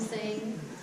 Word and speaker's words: Tseng: Alright, hey everyone, my name is Tseng. T is silent, even though there's a T in my last name.